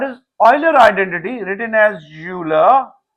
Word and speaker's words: Euler: Written as Euler, pronounced as Euler, it reads that e raised iota theta is equal to cos theta plus iota sin theta.